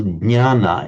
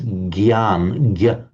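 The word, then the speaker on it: jñāna: What happens is it comes out more like a nya, nya. In modern Hindi, it's pronounced as a gya. So, for example, jnana in Sanskrit becomes gyan, gyan in Hindi.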